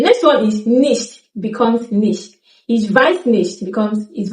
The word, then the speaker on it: nicht: Don't pronounce the T. Ich glaube nicht, dass kommt. Ich glaube nicht, dass kommt. So you simply need to cut off the T softly, but don't overdo it.